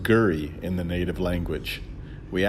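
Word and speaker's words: K'gari: This traditional owner, who called himself Willie, was gracious enough to welcome us to his country, pronounced Gurry in the native language.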